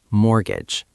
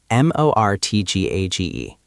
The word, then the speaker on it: mortgage: Mortgage. M O R T G A G E. Note that the T is silent.